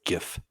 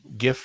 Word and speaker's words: GIF: It's GIF. Andy maintains that it's GIF, not GIF. Oh, Andy and the creator of the file format. Wait a minute now. GIF. Right. Like giraffe.